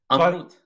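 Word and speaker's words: Amrut: the name? Amroot, A-M-R-U-T. Amroot.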